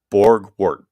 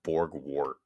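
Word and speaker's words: Borgwardt: Borgwart. Break it down if you can't pronounce it initially.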